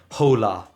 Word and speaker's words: hola: They say like hola, hacer. The H is always silent. It's as though it doesn't exist.